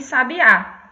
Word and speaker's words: sabiá: Então, a gente tem palavras diferentes, que a única diferença entre elas na escrita é a acentuação. E na fala é porque a gente faz essa pronúncia mais forte, né?